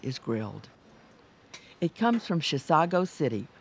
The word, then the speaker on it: Chisago City: It comes from Chisago City, which is not a mispronunciation of Chicago.